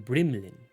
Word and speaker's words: Brimlin: He was Laban, and in Laban the name's pronounced Bremlin, and in Recloria it's pronounced Brimlin. That's why everyone just called me Soth, for the people who knew.